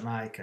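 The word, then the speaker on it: Nike: marca di sportiva che si pronuncia mai che all'inglese ma in realtà è proprio la traslitte la trasmitterazione testuale del Greco nichel cioè Vittoria no il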